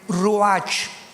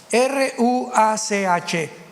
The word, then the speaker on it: ruach: Apunten todos ustedes, los que les interese en su Biblia, la palabra espíritu, que la palabra se escribe ruach, R-U-A-C-H, ruach, que es la palabra espíritu.